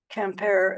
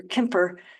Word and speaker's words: Quimper: The other town we went to was Quimper, and it's or Quimper. It's not, if it were French, you wouldn't pronounce the R, but it's Breton or Breton influenced, and you do pronounce the R.